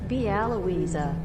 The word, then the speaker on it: Białowieża: hold on, let's see if I can actually pronounce that. Bielowieza? Bielowieza? Okay, hold on. Should we go? Let's go to Google Translate. Białowieża.